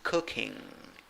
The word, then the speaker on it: cooking: that is stressed and you have a letter u in the pronunciation right you see u and a dot on top of it so this is a short u it's not a long u so it's cooking if you want to